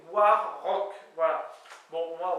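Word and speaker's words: war-raok: veut dire en avant alors apparemment on peut prononcer a r mais sur Wikipédia au niveau des lettres de prononciation il disait bien que c'était War Rock voilà bon moi warck ça me fait kiffer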